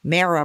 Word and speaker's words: Mara: And then she said, and I said it right, you can use my name, but only if you say it right, Mara, pronounced like Sarah.